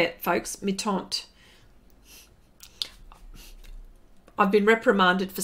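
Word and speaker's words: Mi-Teintes: on me taunt actually that's how that's how you say it folks meet aunt I've been reprimanded for saying meet enters okay that's why I'm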